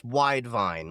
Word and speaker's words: Widevine: Well, it's Widevine, like one word, wide vine. Like, Widevine, yep. Like grapevine.